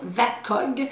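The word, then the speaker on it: VAKOG: Alors, ça se prononce VACOG, c'est un acronyme en fait, mais c'est pour parler des sens.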